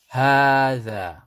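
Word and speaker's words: هذا: And when you pronounce it, make sure you read it with the alif. You pronounce the ha 2 counts and the dha 2 counts. Hadha.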